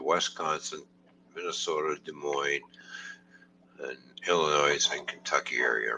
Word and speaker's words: Illinois: I told you before the s in Illinois is silent it's not Illinois and there's a